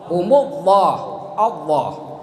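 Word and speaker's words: الله: Seperti humullah Allah Allahu Akbar Allah. Ya. Kata guru kalau mengucapkan lafaz Allah sebelumnya harkat dhamma atau harkat fathah ujung lidahnya harus dilipat di atas.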